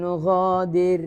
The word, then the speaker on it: نغادر: ഫലം നുഗാദിർ മിൻഹും അഹദ. നുഗാദിർ എന്താണ്? റാഇന് എന്ത് ഉച്ചാരണം കൊടുക്കണത്? നുഗാദിർ പഠിച്ച നിയമമാണ് അല്ലേ? രാ എന്ന് ഉച്ചാരണം കൊടുക്കണത് ലഘുവാക്കി, ലേറ്റായിട്ട് ഉച്ചരിക്കുകയാണ്.